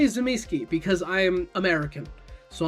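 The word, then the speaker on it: Tzimisce: I call them Zamiski. It's how I heard it.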